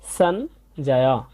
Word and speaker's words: সঞ্জয়: বর্গীয় জ সহযোগে তাই এর উচ্চারণটা হবে অর্ধেক ন এর মত এবং বর্গীয় জ এর উচ্চারণটা জ এর মত হবে এবং শেষে আছে অন্তস্থ তাই হবে সঞ্জয় তাহলে আমরা দ্বিতীয় লাইনটা